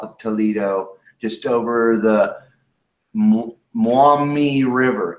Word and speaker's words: Maumee: Okay, Firestorm says that Perrysburg is northwest Ohio, just south of Toledo, just over the Maumee River, M-A-U-M-E-E.